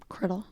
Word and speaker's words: Criddle: Criddle. Yeah, rhymes with fiddle.